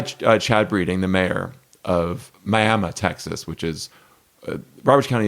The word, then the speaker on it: Miami: It is actually spelled exactly like Miami, but pronounced Miami.